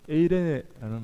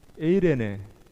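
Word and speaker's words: εἰρήνη: 네, 여기서 이 화평하다는 말은 이 에이레네라는 말인데요. 이 평화라는 말입니다. 그걸 화평케 하는 자라는 말은 평화를 만드는 자 그런 의미입니다. 평화를 만드는 자라는 의미가 되는데요. 이 에이레네라는 말은 헬라어인데 여러분 한번 따라해 볼까요? 우리 에이레네, 에이레네.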